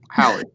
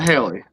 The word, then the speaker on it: Hallie: I just want Hallie. Not Haley. Don't say Haley.